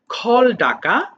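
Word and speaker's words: called: এটা হয়ে যাবে খল ডাকা খল খল্ড খল্ড আচ্ছা এটা আবার অনেকে ভুল করে কলেড বলে ফেলে খলেড বলে ফেলে ওকে কলেড হবে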